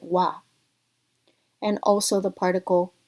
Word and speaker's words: は: Two such examples are the particle wa, written with a ha, but as a particle we pronounce it wa, and also the particle o or wo.